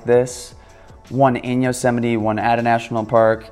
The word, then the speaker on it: Yosemite: addiction on to Yosemite by the way it's pronounced Yosemite just so you don't embarrass yourself in front your friends and call it yo some I'd can't tell how many awkward conversations I've had